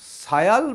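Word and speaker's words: Sial: আর এই অংশটা সিলিকা আর অ্যালুমিনিয়াম প্রধান বলেই এটাকে বলা হচ্ছে সায়াল বা সিয়াল। কেউ উচ্চারণটা সায়াল করেন, কেউ উচ্চারণটা সিয়াল করেন, দুটোই সমান।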